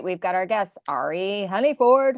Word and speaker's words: Ari: It's like, it's not Ari, it's Ari. Yeah, but it's spelled Ari, so it's so confusing. I always tell people it's like Mary without the M, or I always do